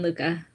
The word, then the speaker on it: Lucca: on welcome everybody today we're joined by jacqueline lucca uh did i pronounce that correctly jacqueline luca luca okay she is an author and adventurer